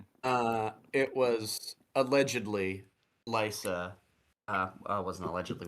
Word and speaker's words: Lysa: It was Lysa in I'm assuming the red keep with tears of lease lice. That is correct. You changed the pronunciation to lice, so I can't accept that.